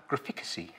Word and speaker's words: graphicacy: So we might call that graphicacy. Graphicacy? Ooh, like literacy.